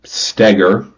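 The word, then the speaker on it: Stoeger: is about uh Ben stagger apparently it's how you pronounce his last name I thought it was ster the whole time my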